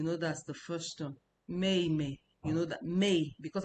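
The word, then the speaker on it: 妹妹: Mei mei is the fourth tone.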